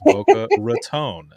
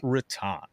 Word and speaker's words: Boca Raton: Yeah, he's like, that is not the way you say it. It's Boca Raton, not Raton.